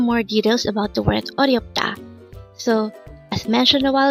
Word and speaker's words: 어렵다: 어렵다. Again, it's 어렵다. This pronounced as a three-syllable word. The first syllable is 어, second syllable is ryop, and third syllable is da. Pronounce it with me. 어렵다.